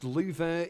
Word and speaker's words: Louvre: me on this upload this is the Louvre or pronounced louver in French in Abu Dhabi the